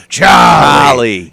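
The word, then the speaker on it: Chollie: Charlie you just go charie yeah you know that rugged that grally voice yeah and it's actually pronounced c h o l l i e no R in there there's no Charlie only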